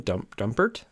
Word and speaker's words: Dumpert: Dumpert?